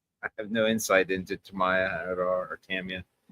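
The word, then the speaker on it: Tamiya: have no insight into Tamaya at all or Tamia. How do you pronounce it? Is it Tamia or Tamaya? Uh Tamia. Tamia third version. Not even close.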